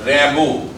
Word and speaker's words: Rimbaud: কবির পুরো নাম Jean Nicolas Arthur র্যাবো। French poet, French বানান, সেই জন্য উচ্চারণটা স্পেলিং এরকম হবে JEAN, কিন্তু উচ্চারণ হবে জাঁ নিকোলাস আর্থার RIMBAUD, উচ্চারণ হবে র্যাবো।